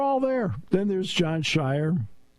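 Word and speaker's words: Scheyer: Then there's John Shire, whose name rhymes with choir.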